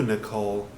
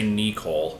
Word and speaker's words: Nicole: what did you do Nicole no no I think it well I think no I think it was there it was correct no except you have to say nikohl because they pronounce it weird wow I haven't moved